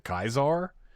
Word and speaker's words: Caesar: But they all said if the guy that was the Kaisar died and I I'm not mispronouncing Caesar. That's what they pronounce. That's how they pronounce it in the game.